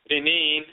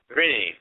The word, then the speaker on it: Ren: Now, very often they will stick an E in between the R and N to facilitate pronunciation, because very often the